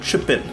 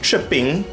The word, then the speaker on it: Trippin': That is an album by Ralph MacDonald called Trippin'. Not tripping. Some of our Trinidadians are very phonetically correct.